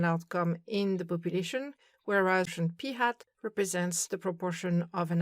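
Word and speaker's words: p̂: of the letter so that the statistic is pronounced p hat.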